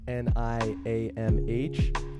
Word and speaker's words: Niamh: There's no V's in Ireland, so that's spelled Niamh.